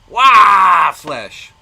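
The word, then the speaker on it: Waaagh! Flesh: Fenrisin Grey, Waflesh. Or, as it's more properly pronounced, Waflesh!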